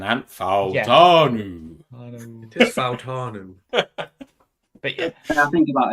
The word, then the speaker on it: Fautanu: I can't pronounce them right now. Troy Fanato, of course. Fautanu. Exactly. I see. This is why you sounded like a character from Shooting Stars, then, Ant. Fautanu. Yeah. It is Fautanu.